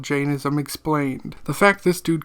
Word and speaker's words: Jainism: So, Janism is a religion I have been mispronouncing since I learned of it. I called it Ginism because that's how I remember my professor saying it, but it is actually Janism.